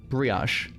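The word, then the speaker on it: brioche: This bri ash. O is different than osh. O. Do you hear bio? So many recipes of bri. No. Osh. He's definitely saying ash.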